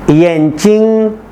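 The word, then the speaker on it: 眼睛: रंग, येंचिंग ऐनक चश्मा, येंचिंग चिंग के ऊपर कोई टोन नहीं है साइलेंट टोन है, येंचिंग आंख, यांगरो बकरे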